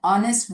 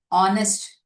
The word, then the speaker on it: honest: Here in these words, the letter H is silent. We are pronouncing with only the vowel sound. Okay. R, hotel, honest, honorable.